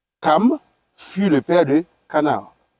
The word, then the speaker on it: Cham: Les fils de Noé qui sortirent de l'arche étaient Sem, Cham ou bien Cam. Oui. Parce qu'on prononce Cam. Oui, on prononce Cam généralement.